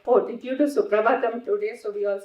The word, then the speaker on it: Suprabhatam: Then he looked at some of the Western children and he said, do you know how Western devotees pronounce Suprabhatam? He said. So we all just kept quiet. He said, super bottom.